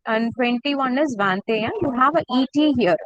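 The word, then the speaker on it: vingt et un: This ET is pronounced with the sound A. Okay, it is pronounced as A. ET, how we will pronounce? A. So we will pronounce it together. Vantea. Vantea.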